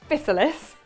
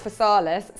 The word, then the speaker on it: physalis: I've always thought it was physalis, which is a bit like chrysalis. My husband thinks it's physalis.